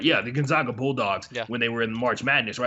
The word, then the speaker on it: Gonzaga: they uh i said it right yeah the gonzaga bulldogs when they were in the march madness